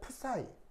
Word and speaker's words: 프사이: 그래서 표기할 때 어떻게 표기하냐면 그리스 알파벳 프사이 요걸로 이제 표현을 합니다. 읽을 땐 이렇게 읽으시면 돼요. 프사이 이렇게 읽으시면 되는데 보통 프사이인데 그냥 S를 묵음처럼 발음해서 파이 뭐 이렇게 발음하기도 합니다.